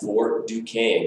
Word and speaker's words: Fort Duquesne: Fort Duquesne. Good job on pronouncing it correctly as well.